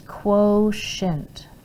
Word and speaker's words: quotient: just means multiply and quotient means divide see this t this t we pronounce it s h so it says quotient i don't know it's